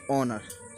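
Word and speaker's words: honour: जैसे कि ऑनर, जैसे कि ऑनर दे रखा है, ऑनर जिसको हम ऑनर बोलते हैं, एच साइलेंट कर रखा है।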